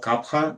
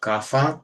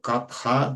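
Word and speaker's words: कफ: uh kapa digestion and it is called kapa not kafa because Sanskrit does not really pronounce the sound f there's pha so kapa this is the way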